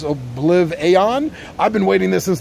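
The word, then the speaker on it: OblivAeon: It's like Oblivion, but it's spelled Aeon, A-E-O-N, so I guess Obliv-Aeon.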